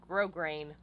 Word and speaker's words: grosgrain: I'm using for all of this is called grosgrain ribbon I know it's spelled grosgrain but it's pronounced grosgrain now normally I would put some boning in